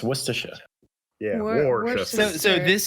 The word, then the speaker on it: Worcestershire: Yeah, it's Worcestershire.